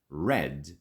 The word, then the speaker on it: read: You've probably noticed that red is a bit different. Same spelling, but different pronunciation. V2 and V3 sound just like the color red.